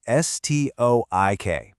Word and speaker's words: stoic: The American pronunciation is stoik.